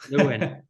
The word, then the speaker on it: Lewin: Is it this how you pronounce it, Lewin? Joseph Lewin. Yeah, close. Lewin.